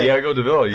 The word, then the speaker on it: Diego Deville: Diego, am I saying it right now? Diego Deville? I'm still saying it the wrong way, aren't I? No, you got it. Oh, did I get it? Okay. Diego Deville.